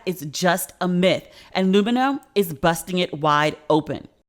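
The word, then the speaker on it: Lumineux: bacteria are bad is just a myth and lumino is busting it wide open i love my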